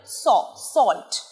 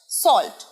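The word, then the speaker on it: salt: সবাই মোটামুটি জানি নুনের ইংরেজি সল্ট স নয় উচ্চারণ সল্ট সল্ট সল্ট সল্ট দন্তস্য সল্ট যেকোনো ভালো রান্নায় আদা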